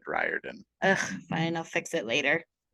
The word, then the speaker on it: Riordan: really good intro also I think it's pronounced Riordan I've said reordin my whole life and I'm not changing it I thought it was reordin too but I heard it said Riordan fine I'll fix it